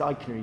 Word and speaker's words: Eichner: So I think, you know, Seth Rogen and Billy, it's Eichner you pronounce his name, you know, working together, that